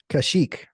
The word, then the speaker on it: Kashyyyk: Dayton, what is the Wookiee's home world and how do you pronounce it? Kashyyyk.